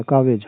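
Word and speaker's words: calves: और इसी तरह आपका काफ है, काफ मीन्स होता है बछड़ा, और कालवेज हो जाएगा, कावेज हो गया, कावेज। यल साइलेंट, जो कुछ अक्षर साइलेंट होता है जिसका बीच में होते हैं, जिनका उच्चारण नहीं होता है, कावेज हो गया।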